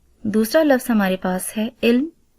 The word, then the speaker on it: علم: لفظ ہمارے پاس ہے علم۔ عین کے نیچے زیر، لام کے اوپر جزم اور میم کے اوپر بھی جزم آئے گی، اور اس کا صحیح تلفظ ہوگا علم۔ پیارے بچوں، پچھلے اسباق